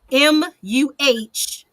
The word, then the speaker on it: morass: Morass, but it's pronounced Muhrass, morass.